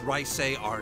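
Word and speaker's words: Reise: and that name of course was dry coals rice AR nor Oh rice a is how you pronounce that hello it's called a Therese uh-huh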